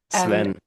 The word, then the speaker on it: Sven: to actually I didn't even ask how to pronounce your name but Sven is the first name. Yes, yes, that's right. Sven.